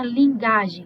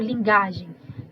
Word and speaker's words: linguagem: tô te falando assim eu não estou escuta lingagem eu tô lendo linguagem né eu tô lendo linguagem linguá Então esse U é uma semivogal eu coloco w depois